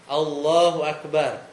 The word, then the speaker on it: Allahu Akbar: Tapi kalau dipanjangin bacanya Allah, makanya salat hati-hati Allahu Akbar. Jangan Allah apa? A-nya panjang. Allah itu jadinya nanya. Itu jadinya nanya. Jadi alifnya dipanjangin.